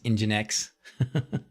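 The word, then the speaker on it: nginx: up and everybody told me finally how to pronounce engine X just move DSP home is much much faster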